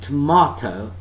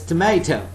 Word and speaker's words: tomato: Now some people pronounce it tomato, and that's British pronunciation. But some people pronounce it as tomato. That is NAM English, that's North American English.